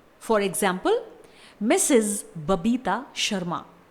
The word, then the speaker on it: Mrs.: MRS डॉट, इस title को pronounce किया जाता है मिसेज। एक बार फिर से मिसेज।